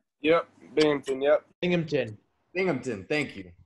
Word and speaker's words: Binghamton: dominic he went um over i believe that's hampton university correct yep binghamton yep binghamton binghamton thank you i know i was pronouncing that girls you know i'm an east